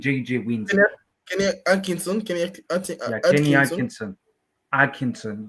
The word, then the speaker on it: Atkinson: Kenny Atkinson. You don't pronounce the T, anyways.